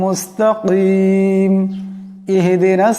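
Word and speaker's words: مستقيم: সিরাতাল পড়া যাবে না মুস্তাকিম মুস্তাকিম এখানে বড় কাফ আছে আওয়াজটা গলা থেকে আনতে হবে শুদ্ধ উচ্চারণটা হবে সিরাতাল মুস্তাকিম সিরাতাল মুস্তাকিম সিরাতাল্লাজিনা আলাইহিম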